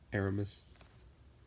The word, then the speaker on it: Aramis: so happy get rhombus all right it's actually pronounced Aramis so yeah Aramis Garcia got john mizerock team said he actually